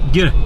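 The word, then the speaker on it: гэр: yurts, or as they're known, how do you pronounce it? Gire? Gire? Gire. Gire.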